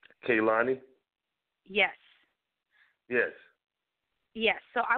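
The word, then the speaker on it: Kehlani: talk about you know the musical artist K kayani is that's how you pronounce her name right kayani yes yes yes so I would like to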